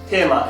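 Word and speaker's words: テーマ: So if you just try to say the katakana tema in English, no one will understand.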